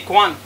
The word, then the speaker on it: Khuon: Mon nom de famille, c'est Kwan. D'accord. Ça s'écrit K-H-U-O-N.